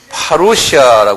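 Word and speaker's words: parousia: 때문에 여러분들 같이 외어 버리시는 좋겠어요이 공중 제을 파루시아 그래요 한번 발음해 보세요 파루시아 이렇게 말해요 파루시아 이건 그냥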